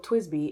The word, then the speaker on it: TWSBI: a pen that's like this last one, the TWSBI Eco. So TWSBI, it's spelled TWSBI.